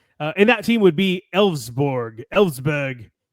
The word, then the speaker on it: Elversberg: And that team would be Elfsberg, which literally is spelled like Elversberg.